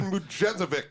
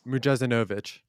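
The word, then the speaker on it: Mujezinović: Mujezovic. Yeah, there it is. Is it close enough? Is that right, Ahmed? Lerajan Mujezinovic. Okay. I missed a syllable.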